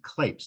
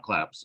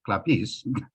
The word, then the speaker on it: Klapes: I should point out my last name is clapes not claps although in Greek it's clappies yes I've been pronouncing